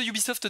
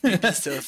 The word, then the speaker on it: Ubisoft: Mais parle-nous un petit peu de ce Ubisoft de manière générale déjà, en attendant. Alors, moi déjà, ça me fait beaucoup rire que tu dises Ubisoft. Oui. Je tiens à signaler. Ubisoft.